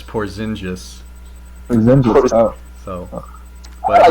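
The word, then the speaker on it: Porziņģis: But I'm certainly happy with Porzingis.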